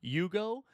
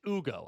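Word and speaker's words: Hugo: I thought it was Yugo and it's Ugo. I believe it's Ugo based on all of the uh broadcasters saying it. So, uh my sincerest apologies to uh Ugo, but uh he looks awesome.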